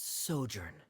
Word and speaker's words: sojourn: think it is directors osimos how do you pronounce this word uh let me see Ah that's sojourn it means to stay for a while this